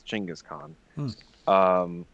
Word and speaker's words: Chinggis Khaan: in Chingiz cons era that's apparently the proper way to pronounce Genghis Khan is Chinggis Khaan like the Mongols from